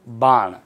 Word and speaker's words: बाण: शब्द लिखा वाण, वाण नहीं होता है, क्या होता है, बाण, ध्यान रखना, वाण नहीं होगा, क्या होगा, बाण होगा।